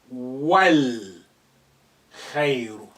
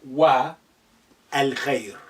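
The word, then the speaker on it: والخير: The a now become silent. You will say wal khayru, not wa al khayr.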